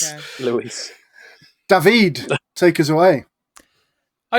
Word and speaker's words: Louis: That you pronounce Louis as Luis. Yeah. Luis.